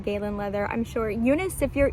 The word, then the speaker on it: Galen Leather: leather i think it's some people pronounce it gallon leather i pronounce it galen leather i'm sure eunice if